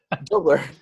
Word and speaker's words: Doebler: dobler dobler i just asked him how to pronounce it dubler ceo and founder of parento and i i